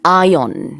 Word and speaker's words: ion: 그런 현상을 말하잖아요 4 이혼의 영어발음 1 아이언 입니다 이 올 아니고요 ion 그래서 이온 층은 아니면 전리층